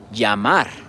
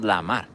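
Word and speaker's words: llamar: See double l right there. Yamar. It's not lamar, right?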